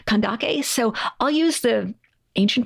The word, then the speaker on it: Kandake: back to our sources it's spelled with uh a Kappa so we know that it was pronounced with a hard hard C sound kandake so I'll use the